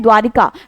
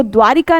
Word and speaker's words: द्वारका: जबकि शुद्ध शब्द जो है वो द्वारिका नहीं बल्कि द्वारका होता है।